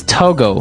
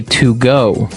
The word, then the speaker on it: Togo: Okay, so it's Togo. That's the way you pronounce it. Because if you look at it, I would say to go. Right, but it's not to go, it's Togo. Or as my French-speaking friends would say, Togo.